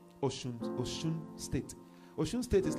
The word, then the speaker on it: Osun: So I was in a place called Osun. It's spelled Osun, isn't it? But it's pronounced Osun.